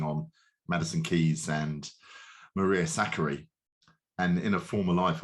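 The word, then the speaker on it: Sakkari: in the chat saying it's not zakari it's zachary in the end i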